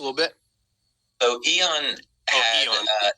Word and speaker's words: Aeon: So Eon had, Eon. It's spelled a little different.